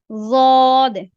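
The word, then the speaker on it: ض: ज़ाद को प्रोनाउंस करते हुए आप एक तो ये देखना है कि आप भरे हुए मुंह के साथ इसको अदा कर रहे हैं, और दूसरा आपकी जबान की जो साइडें हैं वो कहीं ऊपर वाली दाढ़ों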